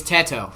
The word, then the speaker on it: Teto: It's Teto.